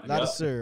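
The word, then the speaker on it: Ladouceur: Yep, LP Lattisir, ain't that how you say it? Yeah, Lattisir.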